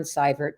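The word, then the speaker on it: Seibert: on LinkedIn that's cybert just look me up it's a spelling is EI pronunciation is cyber um and and I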